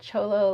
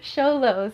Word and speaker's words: Sholo: Cholo, like the song, lean like a cholo. No, Sholo.